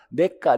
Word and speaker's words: 래가: 현가는 현재 가치고 자, 미래 가치를 래가라고 얘기해. 래가. 근데 발음이 어려우니까 우리나라에서는 내가, 니은으로 발음하자.